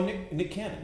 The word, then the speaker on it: Nick Cannon: Oh, Nick Cannon. Nick Cannon. That's how you pronounce it.